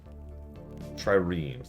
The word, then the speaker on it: Triremes: Triremes, that's it. Yeah, Hyundai. What's the issue? Alamas. I also know how to pronounce Porsche.